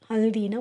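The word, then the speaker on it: हल्दी: Next ஹிந்தியில் என்ன வேர்ட்னா ஹல்தி. ஹல்தி. ஹல்தி ஹல்தினா மஞ்சள். அது எப்படி ஹிந்தியில் ப்ரொனவுன்ஸ் பண்ணால் HALDEE, ஹல்தி.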